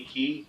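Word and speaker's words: Cay: They have their Castaway Key, and they spell it C-A-Y, and I thought, yeah, we'll do a little bit different than the Florida Keys.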